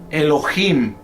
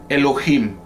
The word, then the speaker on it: Elohim: en morado Cómo es como se digamos se pronuncia en hebreo o cómo se transliteracion uncia cómo suena Elohim Elohim Así es que ese es el nombre de